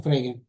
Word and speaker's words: Frege: je ne sais pas comment on prononce Frege. On prononce dur la G en allemand.